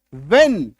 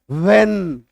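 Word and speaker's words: when: तो हम लोग इसका उच्चारण क्या करेंगे? व्हेन।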